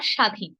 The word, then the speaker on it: স্বাধীন: যাবে উচ্চ থাকবে অর্থাৎ শব্দের শুরুতে যদি বফলা থাকে তাহলে আমরা বফের উচ্চারণটি করব না যেমন ধরুন সদেশ বা স্বাধীন স্বাধীন শব্দটি সম্প্রতি আমরা